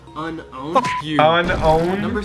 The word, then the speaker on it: Unown: Hey Alex, I just looked up unknown in the Pokedex 3D Pro app, and did you know that the correct pronunciation is actually unowned?